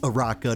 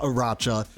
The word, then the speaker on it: Aracha: her name is pronounced araka not aracha uh not like how it's spelled uh the H is silent obviously but you know I